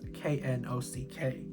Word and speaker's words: knock: No, babes, it's K-N-O-C-K, not N-O-C-K, my love. Sound it out, girl. Actually, knock, you can't hear the K because the K is silent.